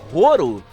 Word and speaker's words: Horo: dessa como não me porque ouro é o jeito como japonês pronuncia a palavra Hollow tá que seria ali